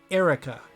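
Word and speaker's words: Eirika: real quick eiir Ika there are some people including official sources that pronounce her name as Erica and as someone who has a similar name you can't just put another ey in my name and have it sound the same I'm just not having it so I usually pronounce her name different and wrong but I will die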